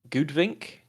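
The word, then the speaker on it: goudvink: That's pronounced Goodvink.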